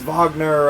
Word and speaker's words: Wagner: it's a it's a it's a it's a wagner yeah it's it's vogner uh orchestral like symphony yeah it's it's it